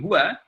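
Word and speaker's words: هو: Bal akan tetapi huwa ini ada isim dhamir. Bapak Ibu kalau misalkan huruf dhamma sama fathah ini dibuang, kalau ada ha sama waw bacanya adalah huwa. Huwa, tetap huwa.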